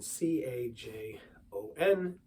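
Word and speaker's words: cajón: play is the Cajon it's spelled like Cajun c-a-j -o-n the J is of course silent and you have that H in there Cajon and there's a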